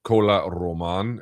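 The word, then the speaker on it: Kola Román: Uh one of them is called Cola Roman. It's spelled K O L A Cola and then Roman.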